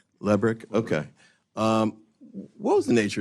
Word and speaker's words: Lebrick: Am I pronouncing his name correctly? I believe it's Lebrick. Lebrick, okay.